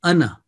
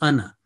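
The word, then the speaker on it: أنا: this the word is anna and as i said that if we are joining with the next word in our recitation this alif is written but it is not pronounced remember nowhere in the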